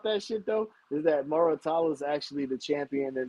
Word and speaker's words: Muratalla: Raymond Muratalla accepted a 70-30 split against Shakur Stevenson.